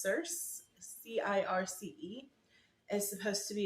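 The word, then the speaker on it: Circe: read Madeline Miller's other book I believe it's pronounced cerse c-i-r-c-e is supposed to be another Incredible Book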